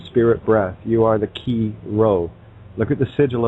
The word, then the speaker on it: chi: Key, which is X in our alphabet, looks like X. And it also, if you were to spell it out, C-H-I or C-H-E-E for the sound, you'd also come across